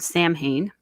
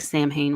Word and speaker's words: Samhain: Samhain, I think is it looks like Samhain when you see it written, but Samhain is how I often hear it pronounced.